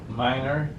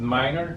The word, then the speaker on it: Mynor: I said that right, Mynor Corrales? Yes, Mynor. I pronounce it Mynor Corrales. Yeah. Corrales.